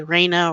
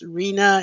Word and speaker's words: Reena: how to pronounce it they usually say Raina or Renee or Rena and it's it's Reena and sometimes I felt